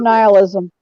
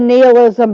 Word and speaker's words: nihilism: and represents a notion of nihilisticism or nihilism n-i-h-i-l-i-s-m so right it's pronounced nihilism it could be a mermaid siren really more since you said that basically which argues that life he said nihilism but it's pronounced nihilism now that he said